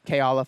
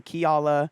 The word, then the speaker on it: Keala: the foundation about the K Allah foundation am I saying it right nailed it k Allah coz I've heard some people say key Allah I heard yeah Foundation